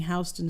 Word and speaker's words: Houston: will immediately think it's Houston Street. Yeah, why is it Houston? What kind of person says Houston except for Houston? Well, I think it's named after a person who pronounced their last name that way.